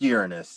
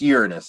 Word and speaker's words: Uranus: There's Uranus too, and it's pronounced Uranus. It's over here somewhere. There's Uranus. It's pronounced Uranus.